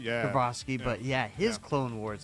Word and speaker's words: Tartakovsky: Tarsky. Yeah. I can't even say his name. Sorry, I'm butchering it. Tartakovsky, yeah. Tartakovsky, but his Yeah.